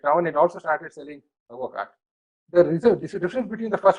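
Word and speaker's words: Advocaat: Literally, it's called as advocat, right? But it's pronounced as avocat, A-D-O-C-A-A-T, avocat.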